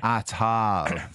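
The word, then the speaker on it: Attal: be repentant francophobia atal the two A's are pronounced ah like a atal so Gabriel atal Jim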